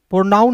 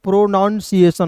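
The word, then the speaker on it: pronunciation: प्रोनाउन नहीं पढ़ते हैं। प्रोनाउंसिएशन होता है।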